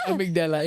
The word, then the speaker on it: amygdala: I should come at a very opportune time, but yes, it's amygdala.